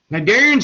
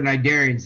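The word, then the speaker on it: cnidarian: them they'd be gone narian are things like jellyfish or Hydra narian the sea is silent by the way they're all United by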